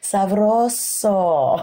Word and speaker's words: Sabroso: Sabroso. I'm still geeking out over that one. You got to roll your R's like without the P.